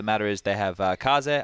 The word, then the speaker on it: Kaze: is they have uh kaze i believe that's how you say it yeah japanese for wind the more you know we would just say case but uh he's playing